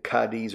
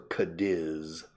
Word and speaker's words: Cádiz: Yeah, in English, sometimes people say Cádiz or Cadiz.